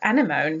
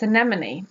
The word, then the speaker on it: anemone: my little girl, and I just said anemone because, to be honest, the word, what it looks like, I thought it should be anemone. And she corrected me and said, well, it's anemone.